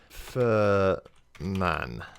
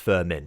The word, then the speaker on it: Furman: Furman instead so for man although apparently pronounced firm in so I'm glad that